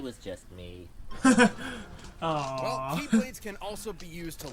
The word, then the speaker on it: X-Blade: It's just Oh, pronounced like right. Keyblade, even though it's just one Keyblade.